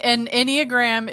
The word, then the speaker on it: Enneagram: explain an Enneagram? Is that how you say it, right? Yep. Enneagram?